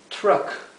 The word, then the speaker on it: truck: Cruise a Cruise tenemos Truck Truck que es camión fíjense que la u se pronuncia e o sea es truck pero lo he escrito Track